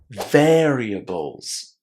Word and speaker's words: variables: Remember that here we put the stress on the first syllable, and we don't pronounce the able inside as able. It's ables, variables.